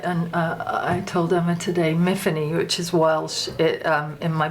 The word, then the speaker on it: Myfanwy: Myfanwy.